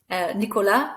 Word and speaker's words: Nicolas: Nicolas, we don't pronounce the S.